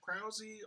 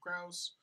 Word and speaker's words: Krause: My last name is actually pronounced Krause, although a lot of people pronounce it Krause.